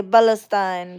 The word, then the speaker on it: Palestine: So, their thing is they can't even pronounce the P and Pal. We say Balestine.